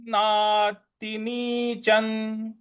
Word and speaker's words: नातिनीचं: अब यहाँ पे जो च के ऊपर जो अनुस्वार है वहां पे अय्या जो आता है, च छ ज झ इया जो लास्ट में होता है, वो वाला उच्चारण ले आएंगे यहाँ पे।